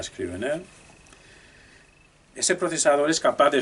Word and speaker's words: Scrivener: Ya sé que existe el procesador Scrivener, como se pronuncia, a la española Scrivener.